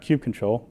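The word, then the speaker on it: kubectl: a CLI that wrapped Q control which is the proper pronunciation of Q control by the way you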